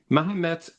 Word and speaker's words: Mahomet: So Mahomet is how it was pronounced, even if they say, well, maybe it's not a T, maybe it's a D.